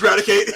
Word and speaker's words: Raticate: The French pronunciation is Ratata. Oh, was it Rattata? Hey, actually Raticate. no. It's Raticate.